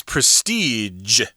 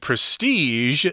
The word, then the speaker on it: prestige: Both pronunciations are correct, but I believe that because the zh sound is kind of difficult for Chinese speakers of English, you can go ahead and say prestige. That is fine.